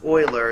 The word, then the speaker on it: Euler: So it's pronounced Euler is what I'm being told.